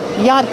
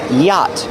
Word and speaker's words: yacht: Pronunciation: Yacht. The ch is silent. Don't pronounce the ch. It's yacht.